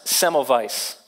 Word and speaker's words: Semmelweis: read this story about a doctor named Ignasi Semmelweis which I am told by a German doctor